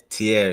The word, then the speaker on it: Tierre: Now, correct me if I'm not pronouncing it right, man. Tierre. Yeah, Tierre, yes Okay.